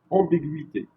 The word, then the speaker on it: ambiguïté: Le tréma est sur le i pour indiquer que ce n'est pas la prononciation de gui, mais comme dans dans aigu. Donc ici, donc on va prononcer le gui comme s'il y a un y ici. Ambiguïté. D'accord? Pour ne pas le prononcer comme un y, pardon.